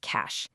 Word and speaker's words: cache: And yes, it's pronounced cash.